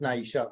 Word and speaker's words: Naisha: N-E-I-C-H-E. That's S-H-E. Yeah. That's Naisha.